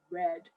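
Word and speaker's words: redd: what we call a red right red is spelled r-e-d-d and it's another old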